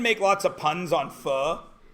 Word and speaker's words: pho: of the fog okay you might call it pho but it's not focus pronounce pho right so anyway it's too bad as pronounced file because you can make lots of puns on fuh like if it's the best place ever they're